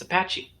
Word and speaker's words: Apache: Apache. That is how you pronounce it. It's Apache. All right, whatever.